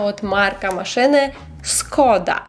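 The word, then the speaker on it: Škoda: вже більше про вимову Всі ми знаємо марку машини Skoda але по-польську тест Skoda не шкода слухайте історію купила собі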